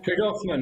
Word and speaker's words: Tregarthen: Tregarthen, Nana.